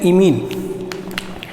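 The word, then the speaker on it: imine: अब इसे क्या बोलेंगे, इसे बोलते हैं इमीन, इसे बोलते हैं इमीन।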